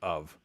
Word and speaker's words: of: How often do you see the word of? And the F is not pronounced like an F.